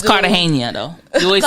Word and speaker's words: Cartagena: It's Cartagena, though. You always say Cartagena. Cartagena. The G in Spanish is pronounced as Cartagena.